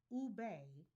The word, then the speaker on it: ube: The vividly purple yam pronounced ube has been a Filipino